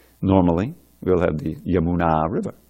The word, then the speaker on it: Yamuna: song we just saying it's Yamuna short long at the beginning short at the end normally we'll have the Yamuna River right Yamuna but when you say of the Yamuna as in Yamuna tira